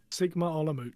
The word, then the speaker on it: Sigma Olomouc: Sigma Olomouc.